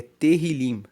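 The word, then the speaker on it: תהלים: Tanto que o livro de Salmos em hebraico é terrilim. Se escreve t E h i l i m, que quer dizer louvores.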